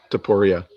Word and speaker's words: Topuria: Topuria.